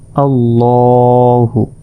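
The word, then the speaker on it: اللهُ: শব্দের অর্থ হচ্ছে মোটা তাই এই শব্দটি মোটা ভাবে উচ্চারণ করতে হবে দেখুন আল্লাহু এরপর হামজা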